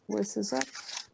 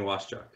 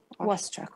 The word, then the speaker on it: Waschuk: Wissizak. Am I pronouncing that right? It's Waschuk. Waschuk, okay.